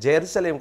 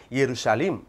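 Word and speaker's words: ירושלים: அடுத்து ஜெருசலேம் அப்படின்னு சொன்னார், ஹீப்ரூவில் எங்கேருந்து ஜேயை கண்டுபிடிச்சாருன்னு தெரியல, அது ஜெருசலேம் கிடையாது எருசலீம் என்ற ஒரு வார்த்தை தான் அங்கே பயன்படுத்தப்படணும்.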